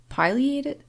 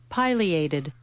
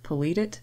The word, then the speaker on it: pileated: it as i say it seems to be a regional thing some people simply refer